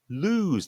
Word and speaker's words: lose: That means that sound at the end is a z sound. Lose. Yeah. Whereas the one below actually is loose with an s sound.